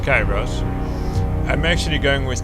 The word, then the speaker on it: Kyros: Okay, so it's pronounced Kairos. I'm actually going with Kyros because Kyros in Greece means, respect and status, and so it's actually a fitting name.